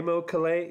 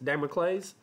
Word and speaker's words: Damocles: well how's that day how do you say that day mocha lay David Amick lays David clays dimo clays Damocles yeah killing all the